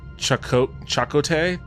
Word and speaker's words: Chakotay: It's pronounced Chakotay? Isn't that what I said? I thought I said it that way. Chakotay.